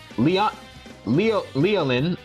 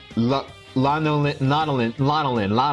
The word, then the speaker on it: Lanolin: And we meet the sheep girl known as Leolin. I'm trying to pronounce her name. Her name is Lanolin.